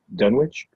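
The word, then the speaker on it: Dunwich: How do you pronounce that town? Dunwitch.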